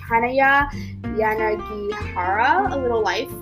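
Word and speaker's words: Hanya Yanagihara: name for a little life um excuse my pronunciation haneya yanagihara it's 700 it's 814 pages long and oh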